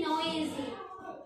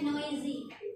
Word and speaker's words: noisy: To be noisy. Yang terakhir itu bacanya noisy. Ya, S itu agak berat seperti ke Z, noisy.